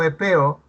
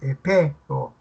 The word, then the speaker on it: Epeo: ¿Cuántas sílabas tendrá este nombre propio Epeo? ¿Dos o tres? Tres.